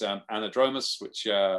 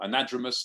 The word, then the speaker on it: anadromous: A sea trout is anadromous, or anadromous, depending on how you want to pronounce it, where you want to put the emphasis.